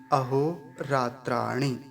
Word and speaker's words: अहोरात्राणि: बस यहाँ एक काम की बात यही है ध्यान देने वाली, ऋणकार पर ह्रस्व इकार है, छोटी ई की मात्रा है, तो जल्दी से बोली जाएगी और पूरा उच्चारण क्या होगा, अहोरात्राणि। रात्राणि।